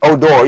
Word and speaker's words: Odor: me being you know being I don't speak spell it I mean it's Oh door yeah Oh Dorothy would say with an accent